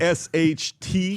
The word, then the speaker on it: Rasht: R-A-S-H-T. He's got a summer Iran. place Iran. there. He knows how to spell it.